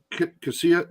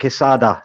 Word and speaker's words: Quesada: You're in Cassia. How do you say it? Yeah, I'm in a lovely little village called Quesada, just about 40 miles south of Alicante.